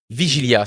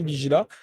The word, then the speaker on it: Vigila: Puis, qu'est-ce qui t'a mené à aujourd'hui dans l'entreprise Vigilia? C'est bien ça? Vigila. Hein? Vigila, parfait. J'ai rajouté une syllabe de trop, là.